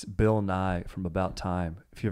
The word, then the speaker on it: Bill Nighy: And it's Bill Nighy from About Time. If you've ever seen that movie. Oh. Bill Nighy. Yeah. Nighy, yes. Yeah. You had me thinking the science guy. Yeah, Bill Nighy, the science guy.